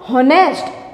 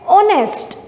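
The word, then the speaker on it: honest: पहला letter H है, लेकिन यहाँ पर इस नाउन में ये जो एच का यूज़ हुआ है वो साइलेंट है। इसको हम हॉनेस्ट ऐसे प्रोनाउंस नहीं करते, बल्कि कैसे प्रोनाउंस करते हैं? ऑनेस्ट, ठीक है।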